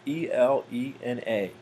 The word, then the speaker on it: Elena: 9th i saw elena which i think i'm pronouncing it right e-l-e-n-a and um i think the i think it could be pronounced a couple different ways but i think elena is the uh traditional way to pronounce that name and that was a